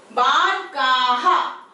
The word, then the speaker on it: बालकाः: इसमें आपके बिल्कुल का के साथ में लगा है विसर्ग, और यहाँ पे आपको आ के बाद डॉट्स लगाने। बालकाः, इसका प्रोनाउंसिएशन बालकाः। तो इस प्रोनाउंसिएशन का ध्यान रखिएगा।